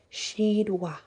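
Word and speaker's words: Sheadwa: and his name is shidwa which is a s-h-e-a-d w a and pronounced s h e e d w a h she wa and she double brings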